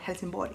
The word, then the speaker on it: Helsingborg: In Swedish we call it Helsingborg.